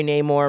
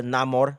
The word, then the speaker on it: Namor: you got my boy name or right here or not more as he likes to pronounce it in the film and you also have